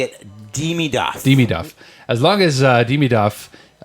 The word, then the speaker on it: Demidov: I think He could Demidov be has the that.